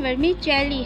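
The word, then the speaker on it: vermicelli: इस वर्ड की प्रोनाउंसिएशन वर्मीचेली है।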